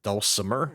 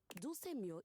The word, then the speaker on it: Dulcemio: Is it dulcimer? No. Dulcemio is completely different pronunciation, spelling, and comportment.